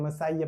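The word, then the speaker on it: Messiah: भी पहली बार है मसाया in Hindi it is called मसीहा इन इंग्लिश मसाया इसको पढ़ते हैं मसाइया प्रोनाउंस करते हैं द आएगा द मसाया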